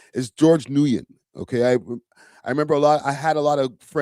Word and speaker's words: Nguyen: I know Flacco like completely botched up the pronunciation of his name, but it's George Nguyen.